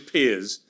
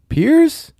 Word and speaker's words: Piers: the last 20 years my name is Piers okay my bad my bad so it's Pier Pier Pierce I mean you know what I'm sorry guys I'm sorry Democrats pronounce it about do it what do you mean who cares just do it I've been called Pier by every American I've known for the lastt my name is pi